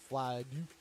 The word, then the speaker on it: Folie: Folie.